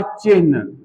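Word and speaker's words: चिह्न: शब्द था चिन्ह। अब देखिएगा चिन्ह मैं कैसे-कैसे लिख रहा हूं। आधा ह और न उच्चारण यही करना चाहिए।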